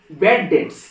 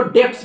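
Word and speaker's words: bad debts: बैड डेट्स बैड डेट्स इसका सही उच्चारण है बेड डेट्स डी ई बी टी एस डेट्स कुछ लोग इसको डेप्स बोलता है डेप्स गलत उच्चारण होगा बेट डेटस बोलिए बी साइलेंट होता है तो बेट डेप्स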